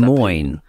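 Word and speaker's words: Des Moines: always Liz from De deoir how do you pronounce that de Mo de Mo de mo de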